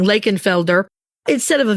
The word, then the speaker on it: Lakenvelder: You'll see the name sometimes spelled with an F, which is the German spelling, Lakeenfelder, instead of a V, but it's still mostly pronounced as an F.